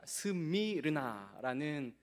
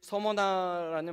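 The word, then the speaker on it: Smyrna: 스미느라 스미르나라는 사실 서머나라는 바이 읽는 법은 우리식 발음이고 스미르나인데이 말 자체는이 몰약이라는 뜻입니다.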